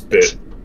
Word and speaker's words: Bit: I'd like to point out a character named Bit. Named what? Bit. You're cutting out right at the beginning of that sentence, of that word. Seem to think that there's more than one syllable. There's not. It's Bit.